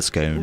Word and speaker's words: scone: SC what is a scone what is a scone or what's a scone I say scone what do you say I say scone as well say scone I always grew up saying scon yeah the maybe your family